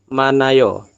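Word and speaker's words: 많아요: dibacanya apa berarti Nomu manayo Oke seperti itu ya kalaupun Hnya ditaruh di sini teman-teman ya maka e Anda tidak akan membacanya karena kan Hi itu dibaca jika di awal jika di depan saja jadi untuk menjawabnya itu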